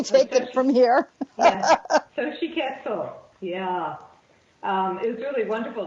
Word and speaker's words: Xochitl: Yeah, Xochitl.